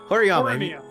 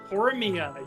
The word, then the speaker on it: Horimiya: Anyways, Horiyama. Yeah, is that how you pronounce it? Horimiya? Horimiya, yeah. Horimiya.